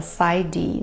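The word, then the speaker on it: PsyD: PS yd que fala Cid né o p é mudo mas os dois são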